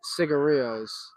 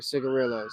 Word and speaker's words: cigarillo: going to talk about cigarillos or cigarillos, however you want to pronounce it. It's technically pronounced cigarillo because it is a Spanish word, and the double L is a Y sound.